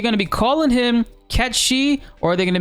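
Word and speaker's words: Cait Sith: comments from people saying hey it's actually catchy you're saying it wrong look it up whatever I looked it up they were right you know in Scottish uh Gaelic pronunciations is actually catchy go with the pronunciation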